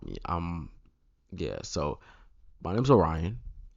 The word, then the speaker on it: Orion: I've heard Orion, Oron, Ori, Orion. I've heard Oreo. I've heard Orin. My personal favorite, Rion. Just Rion. Just forgot the O and just put Rion.